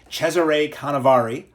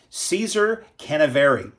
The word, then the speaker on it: Cesare Canevari: it I think correctly Chzure Kavari I'll pronounce it incorrectly Caesar Canavari uh with Dmitri Nabokov